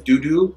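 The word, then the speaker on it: Dudu: We're gonna go in with Doo Doo. Doo Doo. But it's spelled D-U-D-U. It's not like doo-doo.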